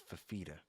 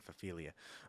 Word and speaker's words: Fafita: It's Fafita. Yeah, Fafita. Fafita. I keep saying Fafilia.